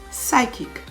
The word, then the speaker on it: psychic: p-n-e-u m-o-n-i-a pneumonia receipt p r-e-c-e-i-p-t receipt psychic p s y c h i c silent